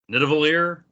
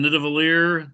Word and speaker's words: Nidavellir: Nidavellir?